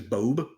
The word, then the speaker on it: Bobe: uh my name is bobe bo b Bob it's it's it's it's spelled like Bob but like with an e at the end ah B well I'll